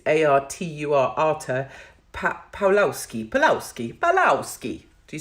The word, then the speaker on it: Artur: Pastor Arthur, but I think it's Artur, Arthur Pawlowski.